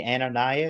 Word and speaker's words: Ananias: Anonyas.